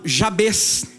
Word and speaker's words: Jabez: de um homem chamado Jabez é assim que se pronuncia o nome dele e